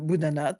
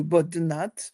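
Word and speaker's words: Boudhanath: bouddhiste et bien c'est le grand stoua de Boudhanat ou de Bodnat on peut prononcer l'un ou l'autre qui se trouve à Katmandou.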